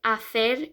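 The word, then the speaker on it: hacer: word um well sometimes when a word starts with h um it the h is silence so in this word the h is silent like if you say to do to make afer is h-a-c-e-r which the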